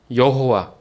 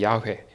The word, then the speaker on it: 야훼: 잘 아는 이름이 뭐예요 구약에서는 여호와 정확한 발음은 야훼입니다 야훼 그게 우리가 한국 성경으로 오면서 여호와가 됐는데 원래는 야훼예요 야훼 그 이스라엘 백성들이 발음이